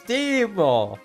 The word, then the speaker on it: Timo: So yeah, here we get the Finnish mercenary boss, Timo! Timo is great. And you have to say it like that, otherwise it's not correct.